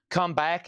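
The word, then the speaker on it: Kum Back: Comeback is the Beatles boot. That's spelled K U M.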